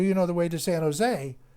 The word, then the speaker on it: San Jose: know the way to san jose the j is pronounced as an h so whenever you see anything latino and it's got a j you pronounce it as h and basically he said